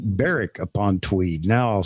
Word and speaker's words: Berwick: upon Tweed I'm sorry can I just give you the pronunciation it's Barrick it's not Berwick okay it is the